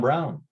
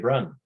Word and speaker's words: Brun: I know my last name, Brun, is hard to pronounce. Brun in English is John Brown. So quite often people will just say, Brown, because they can't pronounce Brun.